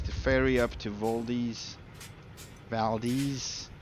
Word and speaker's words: Valdez: ferry up to vdi valdies waldies I don't know how you pronounce it Valdez Valdez in Alaska you're good happy to hear I'm